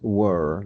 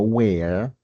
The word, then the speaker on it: were: Y la pronunciación es were like were. Como si hiciera la boca hacia abajo. Were, no where.